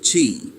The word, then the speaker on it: Qi: Traditional Chinese medicine calls this third force Qi, pronounced Qi, and tonight it steps into the light.